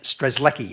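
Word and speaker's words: Strzelecki: name is stress less stress lucky at least that's how we say it in Australia you probably can pronounce it much more much better than that but stress Leckie was a was a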